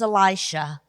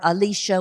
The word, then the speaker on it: Elisha: land in that day was Elisha or Alicia whichever way you want to pronounce it Elisha had had his